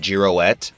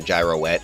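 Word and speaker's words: Giro: might be a mistake I think his name is actually pronounced jouette because that's sort that's similar to how it's pronounced in French and also it would make a lot more sense later because Jiro as his nickname sounds very close to zero so yeah I go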